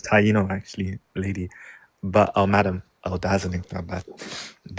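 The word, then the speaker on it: Taíno: Tianos. Yeah. It's not Tiano. Oh, There's no word pronounced Tiano.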